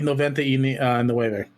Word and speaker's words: noventa y nueve: To say it properly would be noventa y nueve.